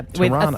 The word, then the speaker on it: Tirana: Yeah, Tirana.